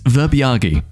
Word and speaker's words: verbiage: Sorry, just had to Google to double check the pronunciation of this word. It's verbiage.